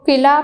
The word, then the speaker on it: قلعہ: پست ہو گئے اور قلعہ، اسٹوڈنٹس اس کو قلعہ پڑھتے ہیں لیکن یہ اصل جو ورڈ ہے صحیح تلفظ اس کا قلعہ ہے۔ کیا ورڈ ہے؟